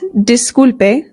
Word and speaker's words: disculpe: Now, in Spanish, the I always makes the sound E. E. So this is not disculpe, it is disculpe. Disculpe. Also, it's good to note that the U always makes the sound U. Disculpe.